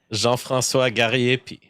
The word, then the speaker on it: Jean-François Gariépy: but it is a difficult why don't you pronounce it for the crowd Jean franois garyi beautiful you said it wow that was such